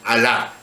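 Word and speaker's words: Halah: Tomó Samaria y llevó a Israel cautivo a Asiria y los puso en Alá, así se pronuncia, en Abor, junto al río Gozán, y en las ciudades de los medos.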